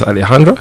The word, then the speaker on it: Alejandra: Is Alejandra? That's how you pronounce it? Okay. Yes, perfect.